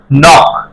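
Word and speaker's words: knock: নো হবে না নল কে এন পর কে নক কেন কে এর পরে এন আছে আগে বলছি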